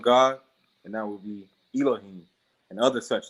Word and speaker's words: ELOHIM: I can tell you, your album, ELOHIM. That's what it is. Yes, sir. Am I pronouncing it right? Yep, you definitely got it right.